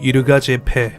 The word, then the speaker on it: Yirgacheffe: 예가체프는 지역명 같은데 현지 발음으로는 이르가제페, 비옥한 땅을 뜻하는 이르가와 지방자치제를 뜻하는 제페가 합쳐졌다는 모양입니다.